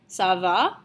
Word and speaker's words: ça va: ça va, and your voice needs to go up at the end of the question. Okay, this is in order to emphasize the fact that it is a question. Okay, so you should be pronouncing it something along the lines of ça va.